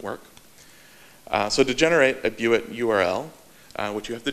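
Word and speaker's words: bewit: They call it a viewat. I think that's how it's pronounced. It's named from the little leather strap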